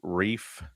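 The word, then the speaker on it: Reiff: I've been I've been in the comments which I rarely get in corrected a lot that it's reef spelled RE I FF.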